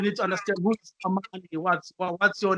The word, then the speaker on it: AMANY: The way you pronounce it is like AMANY for peace.